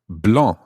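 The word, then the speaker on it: blancs: to the masculine singular blah b-l-a-n-c-s the c and the s are both silent there blah so the libra blah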